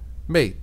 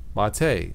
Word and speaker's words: MATE: terrific desktop environment for Linux but it's not pronounced mate now sometimes I will call it Ubuntu mate but it's really pronounced mate and and and and to give the respect